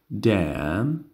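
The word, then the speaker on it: damn: دم، دم، دم معنی میشه. خب معنیش بعدن دم. این قسمت همچنان حرف ان بی صدا است.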